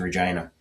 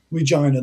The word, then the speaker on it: Regina: south and east towards Regina. Uh and that is the Via Rail stop in in this part of Saskatchewan. So, Nice. Regina, that's the town that rhymes with fun.